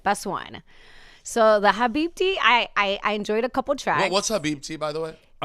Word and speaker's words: Habibti: Because I read it and I went, is that Habibi, but it's the silent T or something? Okay, it's Habibti.